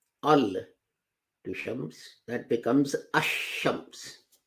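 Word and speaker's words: الشمس: Now, if you add al to shams, that becomes ash-shams. Although lam is written, in pronunciation it's dropped.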